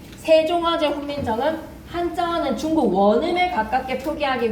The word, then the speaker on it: 세종어제 훈민정음: 생종쟁 훈민정음이라고 읽으면 안 돼. 세종어제 훈민정음.